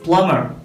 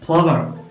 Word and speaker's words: plumber: It is plumber. Plumber. ഒരിക്കലും പ്ലംബർ എന്നല്ല, plumber. രണ്ടാമത്തെ സിലബിളുള്ള B സൈലന്റ് ആണ്.